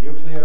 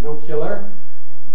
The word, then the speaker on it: nuclear: call nuclear nuclear energy it's widely considered that the correct pronunciation is indeed nuclear but that there is an illiterate pronunciation nuclear which is a competitor for it indeed this so-called illiterate pronunciation has some evident users president eisenhower was notorious for using the pronunciation no killer and avoiding nuclear war well the corresponding british